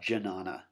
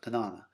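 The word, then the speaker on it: Jñana: Looks like Jnana if you pronounced it sort of phonetically in English, but Jnana.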